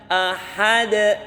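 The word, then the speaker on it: أحد: yakunahu kufuwan Ahad ah pakai ha makhrajnya h itu di tengah tenggorokan jadi bacanya Ahad Sat 2 tamaku kufuan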